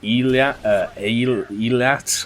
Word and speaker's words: Eilat: This was the Israelis' Navy destroyer, the Eilat, I think is how you say it, E-I-L-A-T, and it was sunk by an Egyptian Komar-class missile boats off the Sinai Peninsula.